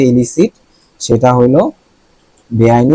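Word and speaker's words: illicit: না এলিসিট এটাও ইলিসি দুইটার উচ্চারণ কিন্তু সেম এটাও ইলিসি এটাও ইলিসি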